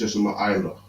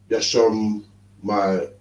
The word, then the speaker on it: Yashama Allah: the last, but it's Yashama Allah. Yashama Allah. Yashama Allah. It's hard to say, but you gotta get it. It's one thing. It's not Yashamai, Yasham my, and then no, it's Yashama Allah.